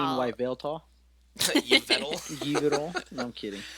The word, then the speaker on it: Yveltal: It's kind of like Eviltal. It's kind of an awkward name to Well, say. even Eviltal. Don't you mean Yveltal?